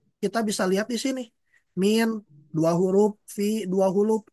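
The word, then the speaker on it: من: Ini dibacanya min karena ini masih belum diharakati. Jadi kalau Ibu-ibu punya buku ya silakan diharakati. Karena ini ya kalau salah harakat maka maknanya beda. Karena kalau kita nulis seperti ini misalkan dalam bahasa Arab ketika nulis seperti ini mim dan nun maka ini cara bacanya bisa banyak. Ini tuh bisa dibaca min. Nah kalau kita baca min maka ini termasuk ke dalam haraf. Nah tapi bisa juga kita baca man.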